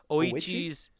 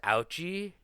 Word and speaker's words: Ouchi: Oichi's OI. I thought it Yeah, I thought it was ouchi and I was like, "Ooh, talk about an ouchie." Yeah, but it's a it's oichi.